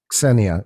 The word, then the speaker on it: Xenia: about it it's hard when i say it normally xenia it's like at the end of it yeah so now i know how to pronounce it like xena princess warrior that kind of spelling like you know it's